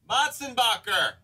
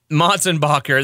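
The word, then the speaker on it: Motsenbocker: How do you pronounce this guy's name? Motzenbacher. Motzenbacher, that's right.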